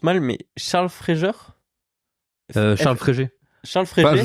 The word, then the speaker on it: Fréger: prononce mal mais Charles Fréger Charles fréer Charles fr je sais pas comment ça se prononce en vrai parce que j'ai lu juste le le nom alors Charles Fréger c'est c'est Charles fréer c'est un photographe qui